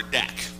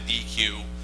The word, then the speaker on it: deque: called a deque or dec. There's some discussion over how to actually pronounce this word. I call it a deque. A dec is something you have a barbecue on where I come from, damn it.